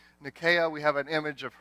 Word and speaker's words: Nike: image of her here nakiya is the goddess of victory nakaya's name is spelled in a way that's more familiar to us it's in I ke we would call her Nike right and actually archaeologists